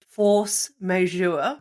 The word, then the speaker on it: force majeure: Now, talking about sort of force majeure.